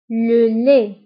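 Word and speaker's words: le lait: الحليب هو لو لي, لو لي, لو لي. فلو لي كنكتبوه بالتي في آخر الكلمة ولكنها لا تنطق. لو لي تي لا ننطقها, تكتب ولا تنطق.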